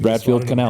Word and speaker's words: Bradfield Canal: Bradfield Canal.